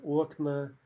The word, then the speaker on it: окна: in a or ya, the stress almost always jumps to the opposite syllable, right? Wherever it was in the singular, it's going to jump to the other syllable. For example, окно becomes окна, море becomes моря, облако becomes облака.